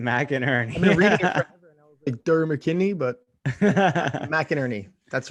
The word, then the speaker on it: McInerney: you say his name mac and ernie mckinney but mcinerney that's right mac and ernie the the mc always throws me off on a name it's mac sometimes it's mick yeah we were talking